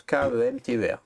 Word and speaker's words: Kemter: Comment tu dis Kemter? K-E-M? Comme ça se prononce, K-E-M-T-E-R, Kemter.